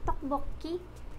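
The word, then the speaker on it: 떡볶이: Tokbokki. Alam ng lahat to, syempre. Si rice cake. Tok-bok-i. Tok-bok-ki. Sa unang syllable natin, itong si tok, yung ginamit natin.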